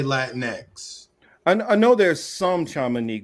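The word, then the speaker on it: Latinx: You're supposed to say Latin X.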